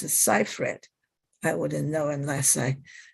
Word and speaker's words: Seyfried: here is amanda seifried i think it's pronounced seifried i wouldn't know unless